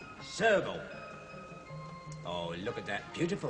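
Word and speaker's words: serval: what this is called This is called a Servo that's right it's spelled s e r v a l Servo oh look at that beautiful thing isn't it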